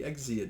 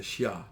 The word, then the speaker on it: Xia: the first dynasty that's not the exia dynasty it's the shia dynasty shang dynasty just pronounced